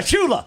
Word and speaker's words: Shula: It rhymes with moola. YEAH. SHULA SCHULA.